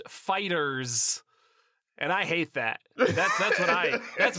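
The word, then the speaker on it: FighterZ: The game is called Dragon Ball Fighter Z, but it's pronounced Fighters.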